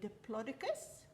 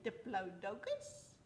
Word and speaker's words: Diplodocus: So the next one we're going to make is, the Americans say Diplodocus. I say Diplodocus.